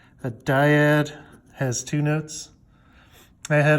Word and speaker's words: dyad: on the board and he pronounced it dad like a like a valley girl saying dad like Oh God come on